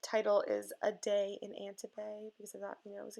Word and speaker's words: Antibes: And Antibes is spelled with an S at the end. It's a silent S, and I know that, and it's literally written on the ticket below, and I know that.